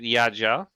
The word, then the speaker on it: Jadzia: Jadzia is actually a name in Polish. We say it Jadzia.